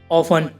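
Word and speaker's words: often: अब इसमें वर्ड के लास्ट में टी ई एन है तो गाइस इसमें टी साइलेंट है। ऑफन, ऑफन की हिंदी है प्रेयर।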